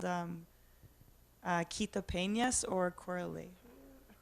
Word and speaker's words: Corralejo: It's called Quita Peñas or Corale. Corralejo.